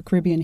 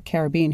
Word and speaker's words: Caribbean: And he has this deep passion for Caribbean history, or Caribbean history depending on how you say it.